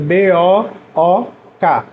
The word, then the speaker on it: book: Eu escrevo B-O-O-K. E leio book. Book. Apesar de eu escrever com O, eu leio com som de U.